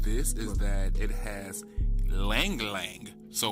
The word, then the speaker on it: ylang ylang: has lang lang so y-l-a-n-g y-l-a-n-g i okay so he pronounced it the same way i do lang lang i've heard somebody say ylang ylang and i just thought that was hilarious and i could be